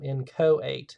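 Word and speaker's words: inchoate: called in coate crimes in coate is how this is pronounced so um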